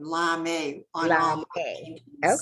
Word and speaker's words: Larmay: I use my maiden name, Larmay, on all my Larmay. paintings. So Okay. I think most people in the arts know me as Larmay, Larmay, True.